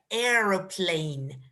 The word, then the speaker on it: aeroplane: this word aeroplane aha you don't pronounce the a at the beginning it's only e along a aeroplane can you repeat getting